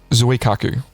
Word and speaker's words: Zuikaku: Let's hear your Japanese pronunciation. The Shokaku. Terrible. And the Zuikaku.